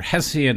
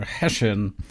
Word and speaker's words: Hessian: Yeah, and there are two pronunciations of Hessian. We do say either Hessian in Britain or Hessian, but we can use either one today.